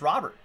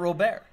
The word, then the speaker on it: Robert: He just said it's pronounced Robert, not Robert.